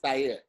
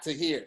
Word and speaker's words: Tahir: actually say my name cuz it's an Arabic name the way you actually say my name is saya it's not to here it's there because they